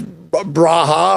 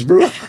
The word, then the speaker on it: Borja: I thought it was Braha or whatever I said, Bruja, and it's like. No, it's Bruja.